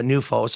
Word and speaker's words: NUFOS: to get involved please contact berata or uh newos of course uh which is spelled n UF oos uh it is important